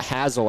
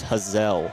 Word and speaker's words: Hazelle: It's not Hazel as I was saying yesterday. It's Hazel.